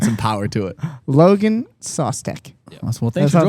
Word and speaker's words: Szostek: Szostek. Sauce? Sauce. Really? Sauce? The sauce. Oh. That's like the American way to say it. It's like Szostek or something.